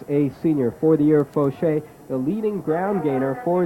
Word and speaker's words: Faucher: The fullback is number 5, Sean Fauché. It is spelled Faucher. That sounds like a French name, JR.